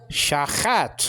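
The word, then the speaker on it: שַׁחַת: Okay, so chat, shachat, or corruption. You understand? Now, the lexical form actually is just one A class, like in the word hat.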